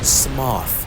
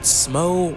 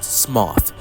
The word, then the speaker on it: Smough: And yes, it's pronounced Smough, not Smo or Smog like many people say. It's pronounced Smough.